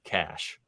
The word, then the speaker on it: cache: everything around us but it is uh c a c h e that's not cache that's J that sounds fancier it does sound fancy here uh but I think the commonly accepted pronunciation in uh in the computer world is just cash all right uh so